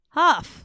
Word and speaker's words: Hough: Ho huff. Huff. Is it really? Because it's got a gh on the end. Yes. Instead of two fs. Okay. It's not like Hufflepuff. Okay. All right. So, Derek Huff.